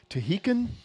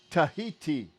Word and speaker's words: Tahiti: Aren't you from like the islands of Tahitian? Oh, have I Toholda? never told you where I'm from? Toholda? It's pronounced, try it with me, Ta.